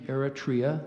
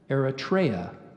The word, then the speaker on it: Eritrea: Eritrea gets its name from an alteration of the Latin name for the Red Sea I gave you the main pronunciation of Eritrea there is an alternate Eritrea what's the language of